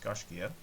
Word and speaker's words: Gaiscioch: is the gosh anyways first of all it's pronounced Garcia second of all they